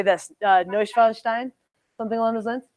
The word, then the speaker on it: Neuschwanstein: Neuschwanstein, something along those lines. How do you say it? Neuschwanstein. Neuschwanstein.